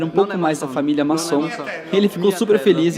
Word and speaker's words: Masson: ainda me explicou que em dialeto Veneto o nosso sobrenome que Originalmente é escrito com dois z em italiano se pronuncia como se fosse com dois s tá aí explicado o